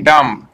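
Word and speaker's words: dumb: কোনো letter silent নয়, এবং ডি ইউ এম বি ডাম্প, এখানে কি হবে, ডি ইউ এম বি ডাম্প, এখানে বি সাইলেন্ট, ঠিক আছে।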